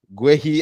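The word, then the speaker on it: Guéhi: this is not true GUI as Africans pronounce him or gay as the English pronouncing G I hope this is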